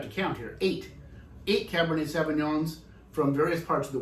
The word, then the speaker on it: Cabernet Sauvignon: heard of let me see if i can pronounce it correctly uh cab bernie sauvignon oh cabernet sauvignon and you have heard of it of course